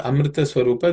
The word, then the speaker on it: Amrita Swarupa: The first compound word Amrita Swarupa, there are no, in this sutra, there are no aspirated consonants, so it should be easy to pronounce.